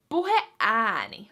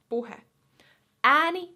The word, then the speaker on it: puheääni: Puheääni, another compound word. So we have the word puhe, which is like speech, talk, puhe. Ääni means voice. Ääni. So we have puhe, ääni.